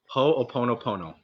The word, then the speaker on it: Ho'oponopono: you you talked about this and I'm gonna mispronounce it ho po po po po can you say that again ho oponopono ho oponopono my my girlfriend talks to me